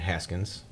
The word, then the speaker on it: Haskins: It's pronounced Haskins.